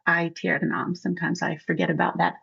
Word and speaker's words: aeternam: Well, and you saw I started to pronounce aeternam instead of aeternam.